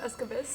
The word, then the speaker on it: Esqavisk: I think it's Esqavisk. Esqavisk. Sorry, It's Esqavisk. okay. The K is silent.